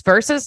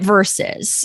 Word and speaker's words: Versus: all or not verse verses. Yeah. How do you pronounce that word at all? We're calling it versus like this person versus this person.